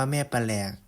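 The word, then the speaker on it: แม่แปรก: ถูก ยก ให้ เป็น แม่ แปลก หรือ อ่าน ว่า แม่ ปะหลก หรือ หัว หน้า โขง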